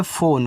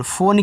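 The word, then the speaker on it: phone: एक English word है, तो पी एच बनाता है फा, ओ से ओ की मात्रा फो, एन से ना, ई का उच्चारण नहीं होता लास्ट में आने वाले इंग्लिश में।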